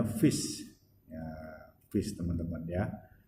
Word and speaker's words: fis: Maka ini bukan fa lagi ya, tapi dibacanya fis.